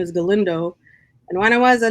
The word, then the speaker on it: Galindo: And I would say, "Lindo."